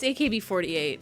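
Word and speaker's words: AKB48: It's AKB 48. How to pronounce... Okay, so it's 48. So they do use, if it's idols, they have to use the English pronunciation.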